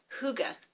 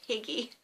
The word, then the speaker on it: hygge: it's Danish concept of it's called hygge but it's spelled h y GG e and I became very interested in it last year coming up to Christmas how my children were calling it piggy but it's actually called